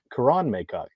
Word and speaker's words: Karan Maycock: Um, and just to correct you, Karan Maycock. So Oh, I believe, based off me asking him how he pronounces his name.